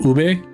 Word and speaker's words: ube: But I also don't blame him because like the way that it's that you read it and pronounce in the English language is technically ub.